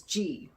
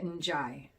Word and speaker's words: Njie: of hers on Tropica, I looked up the last name on how to pronounce it, and all I could find was it was G, with just pronounced G with the N silent. Well, I did more research, and that was wrong. It says to pronounce it N''Jai. That's how you pronounce it.